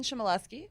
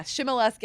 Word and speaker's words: Shimoleski: Yep, Jason Shimoleski, co-author. That's how you pronounce his last name. Okay. Yeah, Shimoleski.